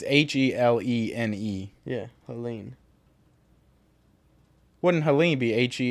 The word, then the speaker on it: Helene: Why would it not be pronounced Helena? Like, what is the difference? It's Helene.